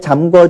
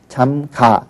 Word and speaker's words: 잠가: 담궈라 하면 잘못된 거고요 문을 잘 잠궈 주세요 이렇게 얘기를 하죠 그런데 기본형은 잠그 다예요 그러니까 여기에 아나 어가 결합을 하면 의가 탈락을 하는의 불규칙 동사에 그러니까 고라고 하는 것은 발음도 잘못된 거고요 쓰기도 잘못 쓰는 겁니다 그래서 잠가 주세요 이렇게 해야 되는 거죠 이러니까 이런 부분은 사실